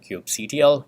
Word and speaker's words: kubectl: Of course, you have a CLI on the outside called kubectl, Kubectl, however you want to pronounce it.